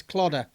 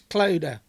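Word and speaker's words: Clodagh: I mispronounced her name as Clodder. It's Clodder.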